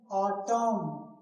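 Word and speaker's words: autumn: जब वर्ड के एंड में एम एन आता है। एम एन आता है तो एन क्या होता है? साइलेंट होता है। जैसे एग्जांपल ऑटम नहीं पढ़ेंगे। क्या पढ़ेंगे? ऑटम। क्या पढ़ेंगे? ऑटोम। तो यहां एन जो है वो क्या है? साइलेंट है।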